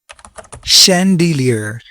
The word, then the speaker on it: chandelier: Chandelier. 3 syllable. Chandelier.